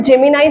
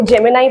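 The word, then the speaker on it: Gemini: Studio का नाम है जेमिनाई स्टूडियो। ये जेमिनी नहीं है, इसको जेमिनाई प्रोनाउंस करेंगे।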